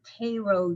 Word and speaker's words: Cairo: He was from Cairo, Georgia, and that's how you say it.